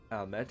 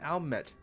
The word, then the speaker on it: Alme: Almet and her sisters will be expecting us. Not Almet. Alme. Alme. It's French! It's a French pronunciation!